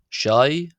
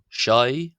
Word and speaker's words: ϣⲁⲓ: the subtitles as well just to show how that's spelled. So we have o then we have shai shai.